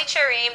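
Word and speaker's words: Qerim: whoa whoa you're Molly Karam I am Molly cherim that is the proper way to pronounce my last name so why all of a sudden now I've known you as Molly Karen for three years it's just time it is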